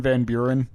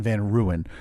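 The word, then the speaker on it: Van Buren: my ode to Martin Van Beern? Oh, well, you you pronounce his name wrong, Steve. And I know a couple people understand. His name is actually Martin Van Ruan.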